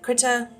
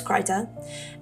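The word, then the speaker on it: Krita: My preferred program is Ker. Some people pronounce it critter. Those people are wrong. It's Creta.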